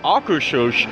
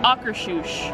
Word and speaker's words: Akershus: I am very excited to try some Norwegian-style food at Akershus, which I'm not even sure if I was pronouncing the name of the restaurant right, but